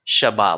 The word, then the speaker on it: Shabbat: edition of Shabbat lounge or Sabbath lounge pronounced Shabbat lounge last week's Torah portion